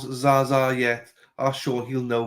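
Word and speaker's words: Zsa Zsa: Dylan, did you find out how to pronounce Zaza yet? Ask Sean, he'll know who Zaza Gaber was. Jaja.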